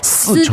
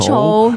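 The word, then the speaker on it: 丝绸: And you'll hear people at the market telling you that this is a 丝绸. 丝绸, And 对。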